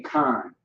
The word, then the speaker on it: kan: You would say kan.